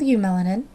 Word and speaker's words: eumelanin: So we have our dark and smooth eumelanin, remember the E is silent, and our light and irregular pheomelanin.